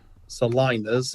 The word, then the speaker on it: salinas: Salinas is how I've been told it's pronounced, which is in the Caribbean or South America, a salt pan, lake, or marsh.